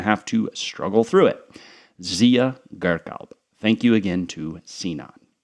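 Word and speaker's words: Ziya Gökalp: ideologue of Turkish nationalism, Zia Galp. There's a silent R in there. I'm not even sure what I said last time, but it's a tough one.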